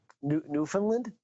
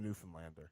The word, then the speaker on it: Newfoundland: Newfoundland? Newfoundland. Get it right. Oh, sorry. Oh, how do you pronounce it?